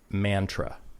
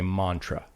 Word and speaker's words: mantra: It's like you wouldn't say mantra. Mm-hmm. You say mantra. I think even people from the Northeast say mantra.